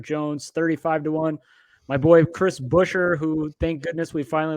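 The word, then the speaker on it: Buescher: bell 25-1 eric jones 35-1 my boy chris busher who thank goodness we finally learned how to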